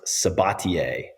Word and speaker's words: Sabatier: I don't even know my last name is pronounced sabatier s a b a t i e French I assume it's is it French okay French via Louisiana so it's been sort